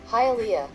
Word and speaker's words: Hialeah: Se diría quizás algo como Hialeah o algo así en español, pero oigamos cómo lo dice el traductor en inglés. Hialeah. El siguiente es esta ciudad en Georgia, que en español quizás se pronunciaría esto de Decatur.